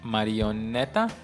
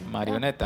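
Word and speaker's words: marioneta: marionette yeah in spanish how you say it marionetta yes marionetta yeah so so here we go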